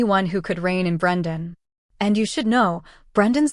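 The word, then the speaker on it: Breandan: Claude pronounced it Brendan.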